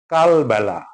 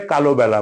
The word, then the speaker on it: কালবেলা: প্রকট না প্রকট প্রকট রাষ্ট্র রাষ্ট্র না রাষ্ট্র রাষ্ট্র কালবেলা ভুল করে কালোবেলা বলি। কালোবেলা না কালবেলা কাল রাত্রি।